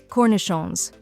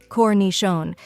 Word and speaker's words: cornichons: Some examples include salami, suh-lah-mee, prosciutto, proh-shoo-toh, pâté, pah-tay, fromage, froh-mahzh, cornichons, koh-nee-shohn, baguette, bah-get. Final thoughts. In short, mastering the pronunciation of charcuterie is a valuable skill for any food lover or culinary professional.